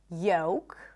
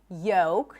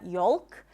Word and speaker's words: yolk: So the L is not pronounced in words like yolk, the yellow part inside the egg, yolk, not yolk, yolk.